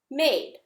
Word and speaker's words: made: But as soon as I add that silent E on it, this A says A. Now the word is aid, made.